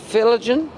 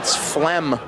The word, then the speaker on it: phlegm: Filligan? Filligum. You want to use that in a sentence? Not particularly. Yeah, it's phlegm.